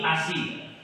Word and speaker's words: ASI: Ada Ani, Agi, Asi. Bacanya Indonesia ya.